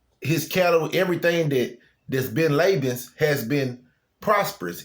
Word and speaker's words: Laban: It's pronounced Laban, but I've been saying Laban. It's Laban. I mean, it looked like Laban, but it's pronounced Laban.